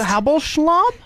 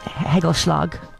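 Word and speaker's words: hagelslag: Now you're not saying it right. Hagelschlag.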